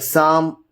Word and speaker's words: psalm: So with the combination of the letters S, T and N, whenever you just speak about, then P becomes the silent letter, like Psalm, Cephology, and then pneumonia, okay, pneumatic and all these words.